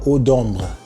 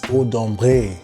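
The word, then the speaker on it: Ombré: So, you French speakers out there, you see that accent on the E? It's not Odombra, it's Odumbre.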